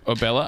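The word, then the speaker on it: Obela: Obella. I used to think it was like pronounced Ebola for some reason, because I'm a little.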